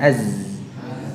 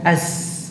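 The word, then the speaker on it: ز: Ini tertahan nafasnya. Jadi aliran nafasnya ditahan. Ya, sebab kalau umpamanya zai ini diucapkan dengan aliran nafas, maka dia akan menjadi sin. Ya. Jadi ini kita berbicara suara, aliran suaranya, ya. Az. Ya, ditahan. Az. Bukan as.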